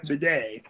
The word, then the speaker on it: Badet: Remember, Stacken, you pronounce it with the foreign apostrophe. That's Jeff Bidet.